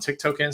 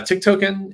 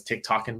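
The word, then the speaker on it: tiktoken: as tokens I saw I heard someone pronounce this as Tik toen before um I think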